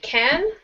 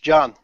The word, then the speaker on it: Can: Is it Khan? No, in Turkish, John.